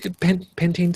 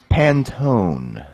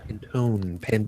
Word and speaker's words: Pantone: Pantene scale? Pantene, is it? How is it pronounced? Pantone. Pantone. Because Pantene is what you put in your hair.